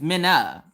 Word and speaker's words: Mina: a minnow fish it's not like a minnow it's her name is Mina and now don't don't miss pronounce her name if you mispronounce minutes name she is quick to be like hey now look listen my name is Mina not minnow or Mina she gets Mina